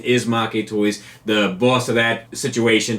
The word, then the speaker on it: Maketoys: making toys it's a double entendre I use make toys just because it's what I've always used but the correct pronunciation is Maki toys the boss of that situation told me that